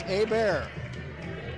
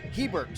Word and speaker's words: Hebert: Being a hockey fan for 40 years, I see any name that ends in B-E-R-T, and I'm thinking French, Canadian, and it would be pronounced Hebert. But I apologize, I'm told it's Hebert, so I will correct that.